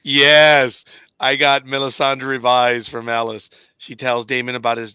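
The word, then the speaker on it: Alys: one of them Alice okay it's pronounced Alice thank you yeah that's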